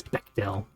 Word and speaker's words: Bechdel: Apparently, according to the pronunciation key, it's Bechdel.